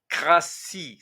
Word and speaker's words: cratie: Crassi, cela s'écrit avec un t mais ça se prononce si.